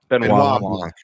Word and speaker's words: Benoit Blanc: Was it how do you pronounce his name? Benoit Blanc.